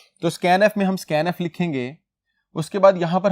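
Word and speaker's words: scanf: वह गेट करता है इसको हम प्रोनाउंस करते हैं स्कैन एफ के साथ फंक्शन आगे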